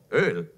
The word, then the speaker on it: Öl: Wer hat ein bisschen Öl hier? Say oil. Öl. Is that what it sounds Öl. Like? Öl. Oh, gosh. Amen. Just one syllable.